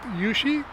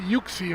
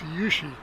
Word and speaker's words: Wuxi: I think I learned how to pronounce that. That's how you say it, Wuxi, right? Correct me if I'm wrong. It's an airport in China. I used to say it very very wrong, Yuxi or Wuxi.